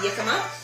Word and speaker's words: jicama: It's jicama, jicama. Proper, I'm not Mexican, but that's how you say it, jicama.